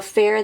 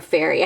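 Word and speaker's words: Ferré: Next, we have got Gianfranco Fair. This is Blooming Rose. This Fairy, sorry, Fairy? Gianfranco Fairy, I think is actually how you say it.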